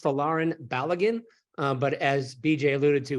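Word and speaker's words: Folarin Balogun: with the pronunciation he his name is pronounced falarin baligan but as BJ alluded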